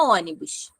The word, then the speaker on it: ônibus: Então, ó, por exemplo, a palavra ônibus. Qual é a sílaba mais forte? O O, né? Ônibus, certo?